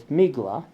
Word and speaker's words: Megillah: And the Yanina Jews pronounce Megillah, a scroll, as Migla, or Tevilah, for immersion, as Tivla, which conforms to epirotic speech.